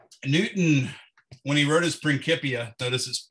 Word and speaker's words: Principia: when he wrote his principia so this is pronounced principals there's no uh there's no s sounding c's in the latin language and latin was the